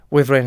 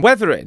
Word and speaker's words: Wuthering: What am I saying? Weathering? You're saying Weatherby Heights or something. Is it Withering? Wuthering. Wuthering. I've never questioned the word. Is it Wuthering Heights? Am I saying it wrong? If it's Wuthering Heights, Charlotte.